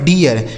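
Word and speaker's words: deer: अगर आर लिखा रहेगा तब जैसे डी से हो गया ड इस डबल ई का उच्चारण दोस्तों इ हो गया आर से र यह लिखा गया आपका डियर D double E आर डियर इसे डियर नहीं पढ़ेंगे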